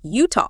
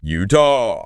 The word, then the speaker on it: Utah: from the Ute tribe it is and it's pronounced Utah Utah emphasize that you s utah I like that